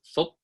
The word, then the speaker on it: Phuc: In Vietnamese, my name is phonetically pronounced Phuc. It sounds like a baseball clapping into the lithe, oiled leather of a catcher's glove.